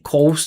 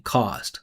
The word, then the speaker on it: cost: immoral coast that All right, you hear that? Co. O. Again, here's our our our vow a moral cost. Right? He's saying coast. I'm saying caused an immoral coast